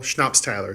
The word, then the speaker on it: Schnapps-Tyler: So Schnapps, like the drink. Tyler, like Steven Tyler. Oh, Mary Tyler. I thought Yeah. it was Giant. No, the J is silent. So Okay. Schnapps, like the drink. Tyler, Mary Tyler Moore, Steven Yes.